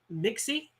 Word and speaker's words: Mixie: So we have is it Mixie? Is that how you pronounce that? Oh, I lost. Oh, I lost it. Okay, here we go. There you go. You see it? Yeah, All right, Mixie, Mixie. Mixie Yes, Fox.